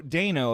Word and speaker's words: Dano: each time though uh paul dano dano apparently is the pronunciation as per every late night talk show i've watched him on uh killed it and